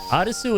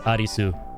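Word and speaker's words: アリス: Fun fact, by the way, Arisu is how you say Alice in uh Japanese. You want to say the name Alice? It's Arisu.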